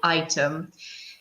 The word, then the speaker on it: item: Pay attention to the pronunciation, not E, but I, item.